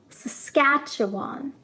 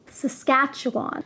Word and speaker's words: Saskatchewan: Saskatchewan is probably the most difficult province name to pronounce. Saskatchewan. Saskatchewan.